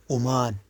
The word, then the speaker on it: عمان: عمان ننطقونه أمان.